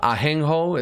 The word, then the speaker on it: ajenjo: Okay, in Spanish it's called Ajenjo. It's spelled with JJ. It's a Ajenjo.